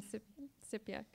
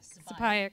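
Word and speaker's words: Sipayik: So Ester Attean is a Passamaquoddy woman from Sipyuk. No, I said that wrong. Sipayuk. I knew I was going to say it wrong.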